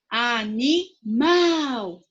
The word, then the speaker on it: animal: sílaba mais forte a qual animal o mal então ela é oxítona animal certo acabou é sim